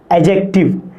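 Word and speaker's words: adjective: First है noun, second pronoun, third है एडजेक्टिव। इसको कोई लोग एडजेक्टिव भी बोलते हैं। क्या बोलते हैं? एडजेक्टिव। लेकिन ये जो डी है ये लिटिल साइलेंट है, पूरा साइलेंट नहीं, लिटिल साइलेंट।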